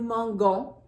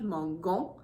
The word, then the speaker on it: mangeons: So if we looked, soft G sounds are G-E and G-I.